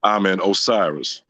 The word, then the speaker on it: Amen Osiris: His name is Amen Osiris, Amen Osiris, and his name is Title 4D Destroyer. Okay, hang on. Amen. Amen. I just say Amen. Amen. But he's pronounced Amen Osiris.